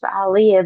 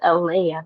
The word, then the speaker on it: Aaliyah: He be like Ali. He like this Aliyah. But I be it's Aaliyah.